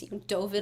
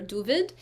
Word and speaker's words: David: He actually wrote his name phonetically as David in Yiddish, even though it was Dovid or Duvid.